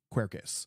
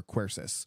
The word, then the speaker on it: quercus: because the genus for Oak is quercus or quercis so depending on where you're at with your pronunciations typically sold for shade